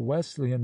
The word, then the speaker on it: Wesleyan: of their denominational name if a man pronounces the word Wesleyan as if the S were a Z and puts the accent upon the second syllable one may safely conclude